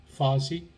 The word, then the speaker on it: Farsi: a kind of farsi the iranian language which is parsi but it's pronounced farsi spoken in afghanistan known